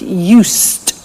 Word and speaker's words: used: listen to the pronunciation I said used with T sound used not used it or use they'd used that's very important to distinguish it from the other verb use okay used the next